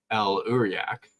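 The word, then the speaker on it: El'Uriak: El Uriak, is that how you say it? Yeah, you asked me, and yep, that's it.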